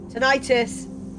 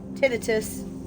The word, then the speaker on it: tinnitus: in one ear oh tinnitus tinnitus whichever way it gets pronounced because people pronounce it both ways i'm gonna put